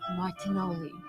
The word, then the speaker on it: Martinoli: Anyway, here is Rhonda in Italy with Mario Martinoli. See? I got it right. You know why? Because it rhymes with cannoli.